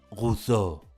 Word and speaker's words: Roseau: tiene su capital en roseau que los franceses pronunciarían algo así como buzo la siguiente Isla que